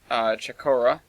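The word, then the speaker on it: Chocorua: But I went up to hike up Mount Chakora, I think is how you pronounce it. I had the pronunciation corrected by a local.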